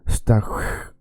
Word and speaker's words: station: And T-I-O-N in Swedish is hun. It's like you're if you went through my course on the pronunciation, then to make this sound a lot of people say, oh man, it's so hard, that sound, the number 7 in Swedish, oh my god. It is very easy. Imagine when a cat is angry, right?